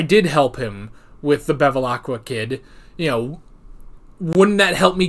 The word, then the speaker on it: Bevilacqua: Bevilacqua.